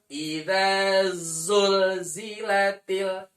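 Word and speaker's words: زُلْزِلَتِ: lebih besar Apa itu zulzilatil ulah dibaca tidak juljilatil jul-jol tidak juljilatil Marbot kalau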